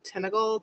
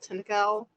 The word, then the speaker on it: Tintagel: That would have been down in Cornwall, and I'm going to mispronounce it. It's like Tintagel. Tintagel.